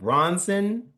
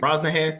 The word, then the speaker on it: Brosnahan: Rachel Bronson is Lois Lane. Brosnahan, I think. Brosnahan, thank you.